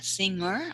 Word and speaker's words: singer: doctor are you a singer okay the singer is without g sound okay singer okay okay are